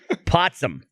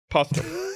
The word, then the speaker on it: Postum: A whole conversation based around the spreading of lies, and you pronounced it wrong, and now we all think it's called Potsum.